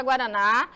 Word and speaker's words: guaraná: vamos já Vimos a palavra guaraná já conhecemos que na última sílaba e ela fica a mais forte oxítona paroxítona quando a